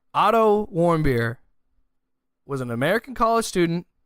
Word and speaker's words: Warmbier: Warmbier. I was making sure I got that pronunciation right.